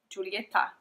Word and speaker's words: Giulietta: this colorway is called Juliet no Giulietta the way it's spelled in italian italian and she has